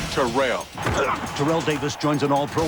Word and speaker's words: Terrell: member of the 2000 yard club and it's pronounced terrell terrell davis joins an all-pro lineup on nfl